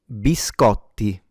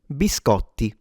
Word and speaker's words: biscotti: It's bis co the t is double. So not only you have to pronounce it like a t but also yeah it has to be stronger or longer.